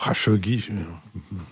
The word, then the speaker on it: Khashoggi: nous intéressions maintenant à l'affaire kachogi ou chogi cru comprendre que c'était comme ça que la prononciation était officielle ce qui compte en